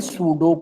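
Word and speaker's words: pseudo: ये natural language से समझा जाता है, और इसको बोलते हैं सूडो कोड। ठीक है ना, इसमें देखो P साइलेंट होता है भाई, सूडो कोड SCUDO, उसको हम सूडो कोड बोलते हैं ना।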